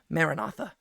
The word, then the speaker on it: Maranatha: But the way that that is going to come can be summarized in a single Aramaic word, Maranatha. How we usually pronounce it in English, Maranatha, right?